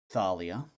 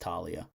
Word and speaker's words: Thalia: about a character called Thalia. Is it really pronounced like that? I'm so certain that name is supposed to be pronounced Talia. Why are they saying Thalia?